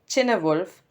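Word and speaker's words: Cynewulf: they succeed in battle the next poet is cinewolfe chinawolf wolf these are the different pronunciations that i found on google so i think i'll stick to cinewolf nothing much is known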